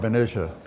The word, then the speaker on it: Benicia: Do you pronounce it Benicia or Benicia? Well, I call it Benicia.